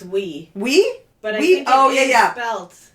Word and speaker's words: oui: No, it's we.